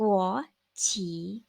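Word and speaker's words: 国旗: ว่า ธง ชาติ ค่ะ อ่าน ออก เสียง ว่า กลัว หัว ฉี กลัว หรอ ขี เป็น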